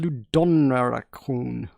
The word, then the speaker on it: LudoNarraCon: we have button mash i believe it's pronounced ludon raccoon i thought it was independent and today we will